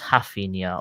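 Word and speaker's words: Raphinha: Who's Rafinha? Or is that your Brazilian tongue coming into this, mate? That's how you actually pronounce it. Because ours at the beginning are H's in Brazil.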